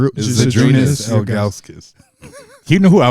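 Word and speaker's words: Žydrūnas: You Isn't it say his name Zadrunas? right. Zydrunas Ilgauskas.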